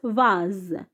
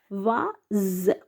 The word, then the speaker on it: vase: Il y a 4 coquelicots dans le vase. Dans le vase. Alors, ici se prononce comme Z parce qu'il est entre deux voyelles. Vase, c'est pas vase, vase. S entre deux voyelles, A et E.